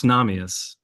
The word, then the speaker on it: Namias: I'm going to give a stab at it. Namias? Very close. Namias.